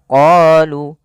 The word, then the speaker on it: قالوا: Pada lafal bacaan qalu da'u lana, kita memanjangkan huruf qa sepanjang 2 harakat karena pada lafal qa ini ada bacaan mad tabi'i. Kita lihat di sini adanya huruf qaf. Pada huruf qaf ada harokat fathah bertemu dengan alif. Maka ketika dia ada fathah bertemu alif, maka kita namakan dengan mad tabi'i. Panjangnya berapa harokat? Panjangnya adalah 2 harokat. Maka qalu.